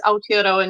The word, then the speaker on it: Aotearoa: And yep, your pronunciation was pretty good. Caritas Aotearoa, New Zealand.